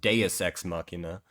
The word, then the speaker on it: Deus Ex Machina: I haven't seen most of those shows, but first of all, it's pronounced Deus Ex Machina.